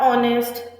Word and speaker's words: honest: Then senior classes, then you have honest, R, where H is silent.